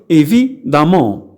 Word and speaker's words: évidemment: évidemment تكتب évidemment كما تلاحظون، ولكن على مستوى النطق la prononciation أقول évidemment. évidemment.